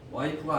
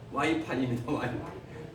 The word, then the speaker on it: 와이파이: 읽어요 영어로 뭐라고 했습니까 와이프가 아니고 와이파이입니다 와이파이가 뭐죠 와이파이가 번역한